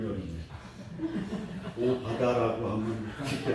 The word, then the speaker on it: 오바댜: 오늘 본문에 오바댜, 발음이 어렵네. 오바다라고 하면 쉽게 할 텐데 오바댜.